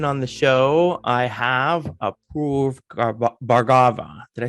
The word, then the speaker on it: Apoorv Bhargava: I have Apoorv Bhargava.